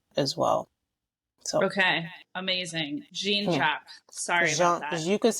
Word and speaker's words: Jean-Jacques: Jean-Jacques. Yeah. Sorry about that. You could say Jean-Jacques or you can say Jean-Jacques. Jean-Jacques. Yeah, I like that. Sound a little French.